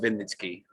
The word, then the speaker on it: Vinnytsky: Very nice of you, but the surname is pronounced Vinnytsky, which you clearly got wrong, but that's okay.